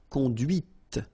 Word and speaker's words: conduit: C'est la voiture que tu as conduite. And that's when you hear the difference between conduit, because remember, final T is not pronounced, conduit, here, and then the feminine, conduite.